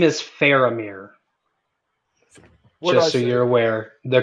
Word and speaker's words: Faramir: or d david winham kirby his name is faramir just so you're aware the correct pronunciation what did i say you said like former former yes sorry that is that papa west